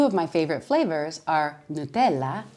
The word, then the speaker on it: Nutella: And two of my favorite flavors are Nutella, not Nutella, Nutella, or pistachio, not pistachio, pistachio.